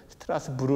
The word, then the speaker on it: 스트라스부르: 프랑스 t 없게 됐다 그런데 지금은 이제 프랑스 지역에 대해서 스트라스부르 라고 발음하는 데 이 당시는 어 독일